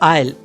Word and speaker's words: aisle: Next word है आइल, AISLE, आइल। यहाँ पर एस साइलेंट है, इस चीज का आपको ध्यान रखना है इसके प्रोनाउंसिएशन में।